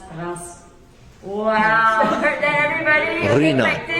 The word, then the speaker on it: Reims: We pronounce it as Ruina, and we pronounce the city as Reims.